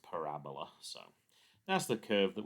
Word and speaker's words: parabola: if students haven't seen it before will say parabola but it's actually pronounced parabola so that's the curve that we get here